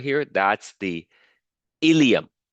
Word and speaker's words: ilium: right here that's the ilum it sounds exactly like the intestine ilium but it's spelled differently okay this is I